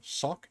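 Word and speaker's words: Sawk: Sock.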